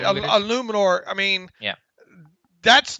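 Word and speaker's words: Eluemunor: How do you pronounce his last name? I think it's Jermaine Illuminor. Right, Illuminor.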